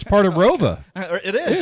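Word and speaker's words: ROWVA: I know where it's part of Rova. It is. It's part of. We're sports people here, Yeah. Bill. We have to know who I graduated Oneida from is. Rova. Did you? So it was Rova even that far back.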